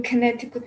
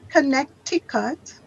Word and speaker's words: Connecticut: I said, is it good weather in Connecticut now?